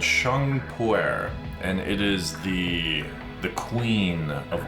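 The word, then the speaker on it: Pu-erh: A huge variety of tea, but I never actually tried the pu'er, is that how you say it?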